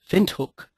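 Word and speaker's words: Windhoek: these uh the the the Mark is actually pronounced uh vuk vuk is a city in nambia sry nam Namibia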